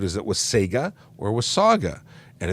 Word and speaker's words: Wasaga: thank you very much John was Saga not with Sega but so many people say Wasaga Beach this was Saga I appreciate you I